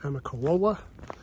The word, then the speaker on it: Amicalola: leaving on February 15th leaving at Amicalola that's how you say it I'm a collage but anyway Falls leaving